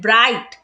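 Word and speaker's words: bright: एच को नहीं पढ़ेंगे तो क्या पढ़ते हैं ब्राइट आप देख रहे हैं ना यहां पे जी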